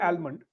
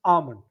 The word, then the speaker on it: almond: I go underline almond because I say mm, almond, yes, but when I check the pronunciation, it is almond. almond, yes, L is uh, silent, silent, which I don't know.